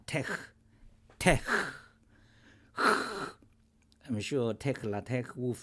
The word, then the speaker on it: TeX: this one million times T is Greek letter toe e is Greek letter Epson and X is Greek letter G yes and more says interesting uh properly pronounce it yeah tech tech I'm sure Tech